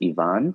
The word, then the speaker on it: Ivan: I think it's the accurate pronunciation is Ivan, but I think so. It's become bastardized to just become Ivan. Yeah, I think whatever way his wife pronounces it, that's probably the correct way. And I think she says Ivan. Okay. Yeah, I think that's the Russian pronouncing. Yeah. It's the most Russian sounding.